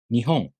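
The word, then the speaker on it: 日本: Nihon. The first molar starts low in pitch, so the next molar must be high in pitch.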